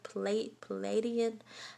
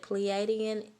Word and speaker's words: Pleiadian: With this Star Child card here, some of you guys are oh, I immediately heard Palladian. How do you say that? Pleiadian.